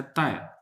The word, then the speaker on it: 大: इस कैरेक्टर को देखिए ये ता अक्सर इसको लोग ता पढ़ देते हैं हाँ जी ता मीन्स बिग ये जो ता का कैरेक्टर है इसकी 2 प्रोनाउंसिएशन है एक तो ता है बिग एक दूसरा है ताय और ये चांग फू